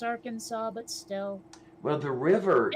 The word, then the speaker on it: Arkansas: Arkansas. I know it's spelled, or it's pronounced Arkansas, but still.